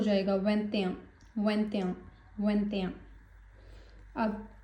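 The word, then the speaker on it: vingt et un: सो जब हम प्रोनाउंस करेंगे तो इनका मर्ज हो जाएगा। वें्याम वें्याम वें्याम अब 2 क्या है?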